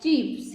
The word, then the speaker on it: chief: He is the leader of a group, chief. C-H-I-E-F, chief. C-H-I-E-F, chief. We can see or we can learn this word that there is a long E sound.